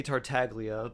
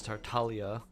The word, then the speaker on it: Tartaglia: That's like, instead of, we say Tartaglia, but the actual pronunciation is Tartaglia.